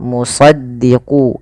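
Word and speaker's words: مُصَدِّقًا: Pada lafal shad, shad itu harus ditebalkan karena dia punya huruf namanya sifat isti'la tafkhim ya. Istiala dia harus tebal. E maaf isti itu apa? Isti'la itu pangkal lidahnya terangkat. Kemudian idbaq. Idbaq itu lidah kita lebih melekat dengan langit-langit atas. Maka dia agak ditebalkan dalam melafalkan huruf isti'la ini. Muso sh ya. Bukan hanya muso ya, bukan e bukan so tapi dia musaddiqo musaddiqu gitu ya.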